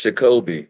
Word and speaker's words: Jacoby: say your name and it's Jacoby and it's background like Jack and Kobe not really gonna say